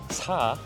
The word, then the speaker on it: 사: usually because it's pronounced 사. It has the same pronunciation of the word death.